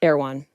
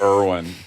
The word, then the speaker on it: Erwan: His name is Erwan? Erwan. Yeah, I thought it was Erwin. Not Erwan, like the grocery store. Not the grocery store. It's spelled ERWAN.